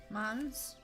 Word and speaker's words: Mons: Mons? Yes. Spelled the same way as Mon. Yes. Pokemon. M-O-N.